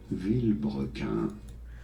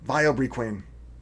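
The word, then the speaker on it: Vilebrequin: How do you pronounce it? Villebrequin. Well, there you go. Villebrequin. Or you can say it like I know you're going to say it, Vilebriquin. Villebrequin becomes Vilebriquin.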